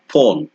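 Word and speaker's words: phone: এরপরে আছে পিএইচ যদি পিএইচ থাকে এটাকে বলতে হবে ফ ঠিক এক্সাম্পল যদি আমি দেই ফোন ফোন ফোন ফোন অথবা গ্রাফ গ্রাফ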